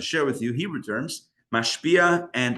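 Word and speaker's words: משפיע: In English, I would spell it M-A-S-H, like the TV show. Mash, but mash, and then pia, P-I-A, like the car, but totally different. So mashpia, and the mekabel is M-E-K-A-B-E-L.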